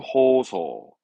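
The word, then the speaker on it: 放送: 발음은 호소.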